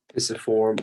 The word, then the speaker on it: pisiform: Pisiform or pisiform, depending on how you want to pronounce it, and the triquetrum.